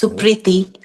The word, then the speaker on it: Suprity: hear how you pronounce it oh well you pronounce it pretty well it's supriti AAR yeah and you're still 20 is that